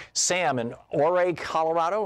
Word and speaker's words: Ouray: Sam in Ouray, Colorado. Am I saying it right, Sam? Pretty close. It's Ouray. Ouray.